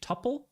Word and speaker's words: tuple: to just use a tuple of components and first of all it should be pronounced Tuple second I am a